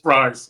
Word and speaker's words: Fries: with injury concerns will fries or freeze I'm sorry I don't know how to pronounce the last name the guard from Indianapolis fries yeah fries sorry okay I I'll remember it with french fries from now on yeah